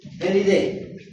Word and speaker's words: Felidae: A ese se pronuncia como E, Felidae.